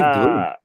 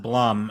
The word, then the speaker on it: Blum: know I don't know if it's bloom or Blum I heard I think it's pronounced Blum at least all right Blum it is because when I because I actually went to a convention and he was there and they said Blum but then another person